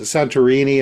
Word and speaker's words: Santorini: left of the island of what is it, Santorini? Am I pronouncing that correctly?